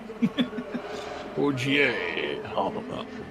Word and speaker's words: Ogier: It's spelled Roger, but it's French, so I'm assuming it's not Roger. Ogier.